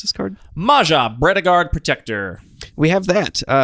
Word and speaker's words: Maja: How do you pronounce this card? Maja, Bredegard Protector.